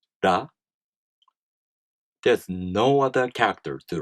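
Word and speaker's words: ら: For example, one of the Hiragana characters, this is pronounced ra.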